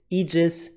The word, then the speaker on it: aegis: to each other but whenever this is this diphthong ae from latin then it's e so you have words like larvi antenni formulae and also very daughter relevant eat the lens it's not aether lens ether lens so get your pronunciation right it's aegis ether and thank you for